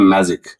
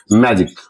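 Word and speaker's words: magic: जी आई सी इसे हम लोग पढ़ते हैं मैजिक इसे हम लोग पढ़ते हैं मैजिक।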